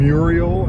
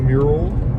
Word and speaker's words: mural: Muriel instead of mural.